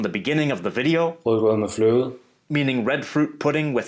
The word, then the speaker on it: rødgrød med fløde: This is the soft D sound.